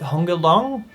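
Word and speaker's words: Hong Gil-dong: Yeah, they said it was Hong. Hong Gil Dong, it was a long O.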